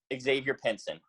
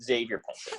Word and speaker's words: Xavier Pinson: put another tricky name, Xavier Pinson. A lot of people see the Xavier and they think it's pronounced Xavier Pinson.